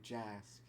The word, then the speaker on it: Jack: I was just friends with them, and I told them, I was like, yeah, my name's Jack, but the C is pronounced like an S. So it's actually Jask.